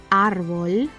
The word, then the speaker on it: árbol: second to last syllable, the grave column, the word will take a tilde in that syllable if it does not end in N, S, o vocal. For example, árbol is good because it ends in L, but zapato, as it